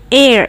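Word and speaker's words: heir: okay, and in air, H-E-I-R, it is pronounced as the air that you breathe, A-I-R.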